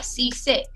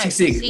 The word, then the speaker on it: sisig: Sisig? No, sisig with a G at the end. Sisig. Sisig, like fig, but with an S.